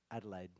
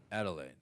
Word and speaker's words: Adelaide: do you say the name of your hometown Adelaide Adelaide a lot of people think we're saying La